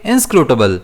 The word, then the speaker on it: inscrutable: इसे हम प्रोनाउंस कैसे करेंगे? इनस्क्रूटेबल। इसमें स्ट्रेस एस पर रहेगा।